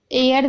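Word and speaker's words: heir: एयर देख रहे हैं, एयर में हम एच को नहीं पढ़ रहे।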